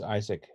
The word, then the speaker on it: ISC: So ISC and they pronounce Isaac over there, and Project Sungrazer require